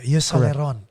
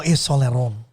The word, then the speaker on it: Yves Saint Laurent: How can you pronounce YSL correctly? Yves Saint Laurent. Yves Saint Laurent. Oh, Yves Saint Laurent.